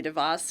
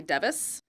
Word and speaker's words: DeVos: Sometimes they say Betsy DeVos, which is how you pronounce her name. Sometimes they say Betsy DeVos, which is not correct. And they'll say, oh, that's that Betsy DeVos or Devis thing, that school choice thing.